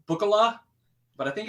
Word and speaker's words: Bookala: now on the Great bukala Escape and I say bukala because it's like buo it's it's spelled b o o k a l a yeah bu kalala buala